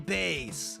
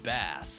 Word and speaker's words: Bass: But I think it's pronounced Bass. What? Well, I mean, you're supposed to be a fish robot master, right? That's why you got those fins on your head.